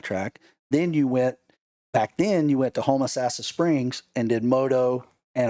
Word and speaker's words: Homosassa: Then you went to Homosassa Springs and did moto and a cross country race.